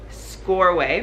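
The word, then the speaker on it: Csorwe: You met this girl, her name, I know how to pronounce it now, it's Scoreway.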